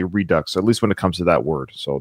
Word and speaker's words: Redux: will say one thing as a French person I do pronounce the X in Redux so I was pronouncing it wrong it is Redux Robin thank you so